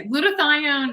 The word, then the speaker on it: glutathione: like trying to write that word but yes glutathione it's a antioxidant that the the body makes